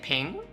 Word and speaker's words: PNG: on your feet wait people people pronounce it ping interesting I I didn't know that people pronounce it ping but I mean I'll say that ping sound like it is a smoother word than saying PNG pen buo right the